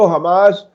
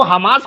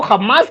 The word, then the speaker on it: हमास: हूं पत्रकारिता में, लेकिन वो हमास को खम्मास क्यों कहते हैं? वो तो उनका प्रोनाउंसिएशन है, अच्छा। एच को खा बोलने का।